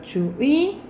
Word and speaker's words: 주의: 것도 가능해요 그래서 가보자 이거는 첫 번째 글자가 아니죠 그렇죠 이럴 때는 원칙을 의의로 발음해야 되지만 2로도 가능하다라고 보시면 돼요 그래서 주의 주의 그리고 주 2도 가능하다라고 생각하면 되고 그리고 뭐도 하냐면 만약